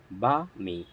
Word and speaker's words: balmy: BALMY এর উচ্চারণ হচ্ছে বা মি, বা মি।